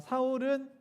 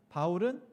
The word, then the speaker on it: 바울: 그러니까 사울은 히브리식, 유대식 발음이고요. 바울은 헬라식 발음이에요. 그러니까 영어로는 폴이죠.